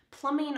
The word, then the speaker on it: plumbing: Plumbing are the pipes that bring the water to your faucet and then away from your drain. Notice that the B here is silent. Plumbing, plumbing.